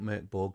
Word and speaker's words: Mörk Borg: Pronounce it how you like, guys. I call it Merkborg because that's how it reads to me.